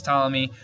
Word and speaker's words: Ptolemy: other strawberries now claudius ptolemy and i know there's a p there but you don't pronounce the p it's silent claudius ptolemy was the most famous